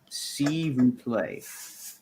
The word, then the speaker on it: s'il vous plaît: It's pronounced "s'il vous plaît," apparently.